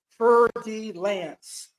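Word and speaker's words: fer-de-lance: It is known as a fer de lance, or you pronounce it as fer de lance.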